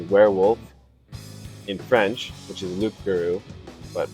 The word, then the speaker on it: loup-garou: The name is actually Werewolf in French, which is loup-garou, but pronounced Frenchly.